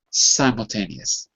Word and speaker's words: simultaneous: it if the if the syllable was s am Sim then that would be different but it's not it's SI that's the syllable therefore you have to say the name of the vow so same for biological